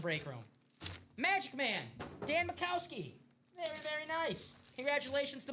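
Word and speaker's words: Majkowski: The Pro Bowl quarterback, Don Mikowski. Nice hit, Michael. What's the spelling of Mr. Mikowski? M-A-J Kowski. The J is silent.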